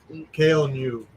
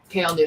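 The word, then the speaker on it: Kael Ngu: Oh, Kyle and Win. Or New. Kale New. Kale New, thank you.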